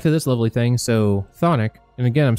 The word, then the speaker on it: chthonic: So Thonic, and again, I'm saying that because apparently it's pronounced that way. I always thought it was Chthonic.